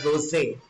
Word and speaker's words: rosé: Please make sure it's a French word. Please pronounce it as rosé. It's not rose wine, it's rosé wine.